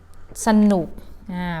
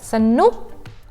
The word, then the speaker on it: สนุก: The first syllable, you pronounce them with a sound, but unstressed a, not strong a. That means the first word, สนุก we pronounce as สะ and then ทะ ตะ and สะ.